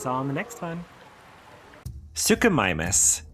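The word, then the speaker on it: Suchomimus: Sukumimus, pronounced suo mimeas, meaning crocodile mimic, was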